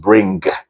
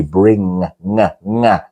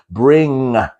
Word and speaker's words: bring: right you know it's it's not pronounced bring with the G like that it's a different kind of G bring okay let's try that bring so take away the